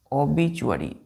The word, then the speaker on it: obituary: तो ओ लेटर का first word है ओबिचुअरी। OBITUARY। क्या है बच्चों? ओबिचुअरी। प्रोनाउंसिएशन क्या करते हैं इसका? ओबिचुअरी। देखिए TUARY को पढ़ते हैं चुअरी, तो ओबिचुअरी। ओबिचुअरी कितने लेटर है इसमें?